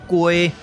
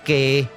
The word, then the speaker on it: 街: 中型雞聲，所以這個字會使讀作雞，嘛會使讀作雞。